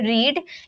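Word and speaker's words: read: अलग की जाती है फर्स्ट फॉर्म को हम बोलते हैं रीड लेकिन सेकंड फॉर्म में रीड को रेड में प्रोनाउंस करते हैं और थर्ड फॉर्म को भी रेड में प्रोनाउंस करते हैं।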